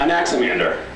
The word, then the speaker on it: Anaximander: Spelled the normal way -- yeah, it’s -- it’s pronounced a lot like it’s spelled.